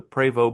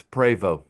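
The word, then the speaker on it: Prevost: We noticed there was a PO bus. And for those who don't know how to pronounce it, it's PO. Not Post, not Post, not Po.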